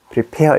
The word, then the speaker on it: prepare: 그 무슨 까닭이냐면 자 prepare에서 이게 가장 강조가 되잖아요. 근데 이건 발음이 약해지는 거예요. 그래서 이건 E로 발음되는 거지. prepare 이렇게 되거든.